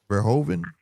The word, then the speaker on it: Verhoeven: I'm pronouncing it wrong though. It's Verhoeven. Verhoeven.